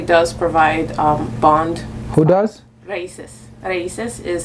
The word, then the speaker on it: RAICES: Raices. Raices is spelled R-A-I-C-E-S. R-A-I-C-E-S. Yes. Raices. Raices. Okay. Raices. That's with a Spanish accent right there.